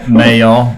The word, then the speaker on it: Mayall: John Mayer? Or is it Mayall? Mayall.